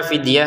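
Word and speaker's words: فدية: ada wau kecil ya fidyatun dibaca fidyah ya seperti tadi faiddatun dibaca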